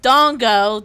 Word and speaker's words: Dango: eggs that's me Dango dango's a candy it's japanese's see see the quietness that's how you know right what and it's it's pronounced Dongo thank you Dango I'm